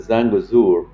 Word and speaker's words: Zangezur: Zanzagar. Well, I I pronounce it Zangazour.